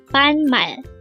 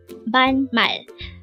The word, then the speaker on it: 반말: word number 364 ban Mal ban Mal it is pronounced is a two syllable word the first syllable is Ban second syllable is Mal pronounce it with me